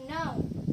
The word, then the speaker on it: know: Nice to know you, bukan ke know bacanya, tapi know. K-nya gak usah dibaca.